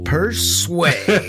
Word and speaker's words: Persue: the echo of the voice from the ghetto per sway and his ig is at p e